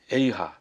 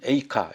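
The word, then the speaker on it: איכה: 어찌하여 이런 뜻인데 에이하 또는 에이카 이렇게 발음하는 분도 있는데 이건 이제 키노트라고 그래서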